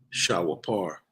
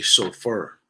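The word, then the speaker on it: שופר: That's the Shah, the Wa, the Pa, the Ra, which is pronounced Shah wa par. The Jews would say shofar or chauffeur. That's how they will say it today.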